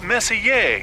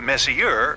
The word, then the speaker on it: Messier: stands for Messier pronounce Messier not Messier as in is your room messier than mine Charles Messier I mean Messier to